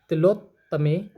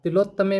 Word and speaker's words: तिलोत्तमे: ओम आगच्छ गच्छ शशि दिव्य अप्सरा तिलोत्तमे स्वाहा। तिलोत्तमे में जो है ना, तिलोत आधा तय भी है उसके अंदर, तिलोत्तमे स्वाहा।